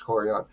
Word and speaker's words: Yan: Sorry, I want to pronounce her first name correctly. I never do. It's Yan.